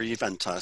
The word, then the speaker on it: Juventas: Well, I'm glad to get the correct pronunciation for Juventas, so I appreciate that.